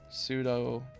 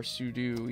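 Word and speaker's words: sudo: just do like um pseudo or sudu either way you pronounce it apt and then clean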